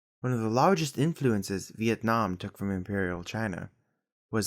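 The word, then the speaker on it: Việt Nam: Eventually, the 2 characters in this name were reversed into Yue Nan, or as it's pronounced in Vietnamese, Vietnam.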